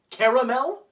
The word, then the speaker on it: caramel: caramel apple absolutely not if anybody calls it a caramel apple they're technically right but they're wrong that's why would you add another syllable when you don't need one caramel what are you trying